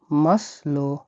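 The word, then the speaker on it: масло: সমৃদ্ধ হল তেল তেলকে রাসায়নে কি বলা হয় মাসলো মাসলো মাসলো মানে হল তেল মাসলো মানে মানে তেল।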